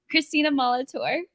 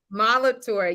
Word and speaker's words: Christina Molitor: girl it's glowing I get your did I pronounce your name right how do you say it say it for the People Christina Molitor Molitor yes welcome to the nitty grit I'm so